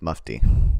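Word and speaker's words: Mufti: think it's mu I looked up how to pronounce it I should remember okay it's muy and while the muy was busy compromising the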